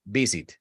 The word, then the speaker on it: visit: Porque para nosotros la V no existe en realidad. Para los colombianos, por ejemplo, sé que no existe. ¿Sí? Entonces terminamos nuevamente diciendo muchas veces visit. Y el gringo queda como que visit. I don't know what you're talking about. You mean busy? No, visit. Don't know what that is. Visit. Ok, ellos sí lo perciben, nosotros no.